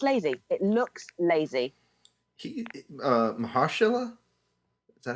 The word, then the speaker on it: Mahershala: Mahershala? Is that how you say it? Mahershala. Mahershala.